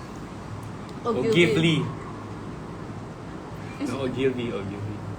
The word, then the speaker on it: Ogilvy: Back in the day, I used to mispronounce Ogilvy.